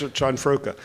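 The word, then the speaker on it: Cianfrocca: Chanfroka. I got to practice that because we have a thing tomorrow morning. You had it a minute ago. That's Chanfroka.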